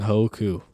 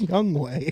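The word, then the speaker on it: Hwang Hee-chan: This Grammy grinder is my old girl lame, but my young ho coo. It's pronounced Young Way. it's not how But it's. my young ho coo. That's not how it's pronounced.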